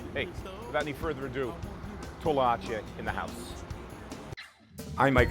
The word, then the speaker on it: Toloache: You pronounce the name of this restaurant. It's your restaurant. It's called Toloache.